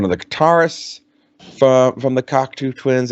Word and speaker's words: Cocteau: Is that what it was pronounced, Joe? Yep, Cocteau Twins. Yeah, the Cocteau Twins. It had one of the guitarists from the Cocteau Twins.